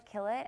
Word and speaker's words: Killett: And it's pronounced Killett, like she's killing it here at Loyola University.